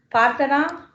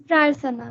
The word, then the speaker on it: Prarthana: Parthana? Present, ma'am. Is it right, ma? Parthana only, no? It's Prarthana, ma'am.